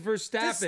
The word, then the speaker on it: Verstappen: His name is Verstappen.